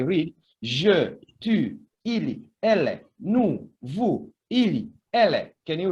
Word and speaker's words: nous: But this one, nous and vous, as you can see, when we speak, the final consonant S is not pronounced. They are not pronounced.